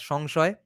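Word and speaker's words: संशय: by creating uh, some samshaya, doubt. Okay, in Bengali we pronounce it as shongshaya, alasya, laziness, nidraha, sleep, bhaya, fear, and dosha, disease.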